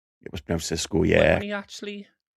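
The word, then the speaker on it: Xisco: Was it was it pronounced Cesco? It was Cisco.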